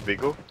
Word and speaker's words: Viggo: You would pronounce it the same way, but we pronounce it Viggo over in Sweden.